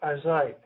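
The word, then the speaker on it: José: J but it's pronounced Jose Jose is Spanish yeah that was one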